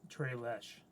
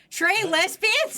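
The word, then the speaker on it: tres leches: It's because it's Spanish. It's Trey Lesh. No. Yes. No. Yes. Trey Lesbians?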